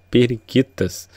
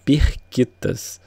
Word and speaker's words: Pirquitas: à pequena localidade chamada pirquitas né nos últimos vídeos eu até falei errado achei achei que o nome correto era periquitas e na verdade é pirquitas né então pirquitas tem um